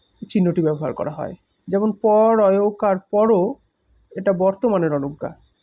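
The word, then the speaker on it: প'রো: যেমন পর অয়কার পরও, এটা বর্তমানের অনুজ্ঞা, বর্তমানকালের। কিন্তু যখন প আর রয়কারের মাঝে একটা ঊর্ধ্বকমা বসিয়ে দেবো তখন সেটার উচ্চারণ আর পরও হবে না, হবে পুরো, ভবিষ্যৎকালের অনুজ্ঞা।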